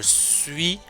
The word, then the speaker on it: suis: Je suis, le S ne se prononce pas.